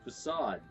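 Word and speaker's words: façade: have straight first Assad I kept saying see seed in that last recording session and then someone pronounced this to Sodom like oh crap that is how that word just announced isn't it need a little mispronunciation problem but I remember now it's facade alright I need to look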